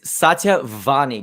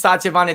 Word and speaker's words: Satya Vani: special guest today um it's satya vani did i say it correctly you said a great yep my name is because people get problems with miss sachavani they're like satia is it vanilla vanilla i like making fun of it too